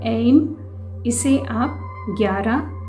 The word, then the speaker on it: AYEIM: तो आज का जो स्विच वर्ड है वो है एम। एक बार फिर से बोलती हूँ, एम एम। इसका प्रोनाउंसिएशन अभी शायद आपको डिफ़िकल्ट लग रहा होगा,